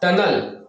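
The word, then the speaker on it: tunnel: कैसे, देखिए बहुत सारे खंड में लिखा हुआ, इसके अंत में ईएल है, तो इसका आवाज क्या होगा, टनिल नहीं होगा, टनल। क्या बोले, टनल, उच्चारण आ आपको निकालना होगा।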